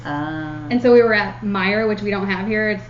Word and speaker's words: Meijer: And so we were at Meyer, which we don't have here. Have you ever been? It's spelled with a J. MEIJER, I something love like that that.